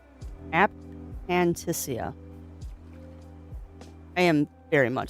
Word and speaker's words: aphantasia: That is true for people with anaphasia. You're not wrong, Pixie. And, oh man, I have never met someone who has anaphasia. Saying it wrong. Aphantasia.